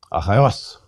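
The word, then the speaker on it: Ἀχαιός: Achaios. Smooth breathing. Second syllable is a diphthong. Accent is on the last syllable.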